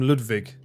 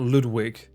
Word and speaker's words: Ludwig: All this fucking time, someone was like, I had someone a long time ago chastising me because I kept calling him Ludwig, not Ludwig.